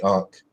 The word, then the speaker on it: ankh: in English as an that's not how the ancient Egyptians pronounced it but us in English